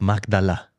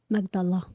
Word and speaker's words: Magdala: who is like crying say it like Jonathan roomy Mary of magdala magdala yeah yes so it's pretty